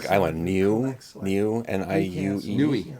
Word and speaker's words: Niue: So I don't know how to pronounce it, but it's that There might be Pacific some Island, Niue, select. N-I-U-E. Nui. Nui.